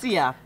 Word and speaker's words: Vicia: Yes, and I had to ask you before, how do you pronounce it? Everyone Vicia. Asks. Vicia.